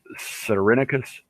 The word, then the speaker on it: Cerinicus: It's pronounced Cyrenicus Photography, and it's CERINICUS, and then, of course, photography.